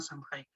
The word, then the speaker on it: Samhain: Es bueno, un derivado de la fiesta celta de Año Nuevo llamada Samhain, o Samhain, como se prefiere pronunciar.